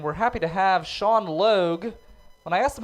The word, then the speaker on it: Logue: And we're happy to have Sean Logue. When I asked him how to pronounce his name, he said it rhymes with Vogue.